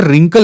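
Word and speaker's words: wrinkle: spelling पण correct आहे चेहऱ्यावर जे रिंकल येतात तर त्याच्यात डब्ल्यू जो असतो तो असतो सायलेंट तर असं रिंकल मसल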